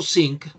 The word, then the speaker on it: think: Si digo think, es hundirse. Así que tengo que pronunciarlo bien.